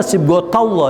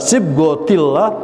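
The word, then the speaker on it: صبغة الله: Ini dibacanya sibghatullah ya. Ini karena kedudukannya menjelaskan ayat sebelumnya. Tapi dalam pembicaraan kita bisa menyebutnya sibghatullah. Nah ini perlunya kita belajar bahasa Arab ya. Bisa dibaca sibghatullah, bisa sibghatillah, bisa sibghatullah.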